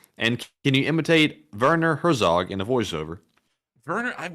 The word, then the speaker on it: Herzog: you say it yeah no it's Herzog oh Herzog I say her Zoo oh that's good oh